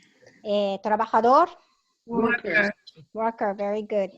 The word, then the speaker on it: trabajador: Trabajador, Worker. worker, very good. In Spanish, J is like pronounced as like H, no? It's not trabajador, trabajador.